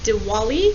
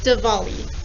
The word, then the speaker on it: Diwali: holiday you've got it diwali or diwali remember both pronunciations are correct who celebrates that holiday